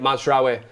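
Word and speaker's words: Mazraoui: is uh impressive mods is the way that mazra I say it properly now uh mazra has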